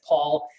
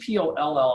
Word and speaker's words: Poll: right hand man paul it's people l do people get your name wrong all the time yeah yeah they do uh because they see p-o-l-l and they think poll but it's paul p-o-l-l on with us